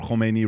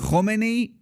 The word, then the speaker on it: Khomeini: Right before Khomeini, right after Shah, you guys leave, you come to the States.